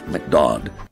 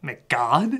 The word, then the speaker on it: McDodd: A man named McDodd. Wait, what? McDodd. Wait, what? McDodd. McGod? McDodd. McGod? McDodd. Whatever, you just call him that to rhyme with odd.